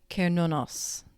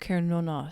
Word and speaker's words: Cernunnos: It's pronounced Kernunos. There we go. Cernunnos.